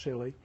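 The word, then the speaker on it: Si(Li): Sillies, this is pronounced silly, are based on silicon as the semiconductor and are widely used for X-ray work.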